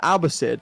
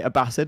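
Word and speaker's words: Abbasid: Like you can say Abasid as well. Like they're both valid pronunciations, but everyone says Abbisid. But I said abassid in a YouTube video a while ago.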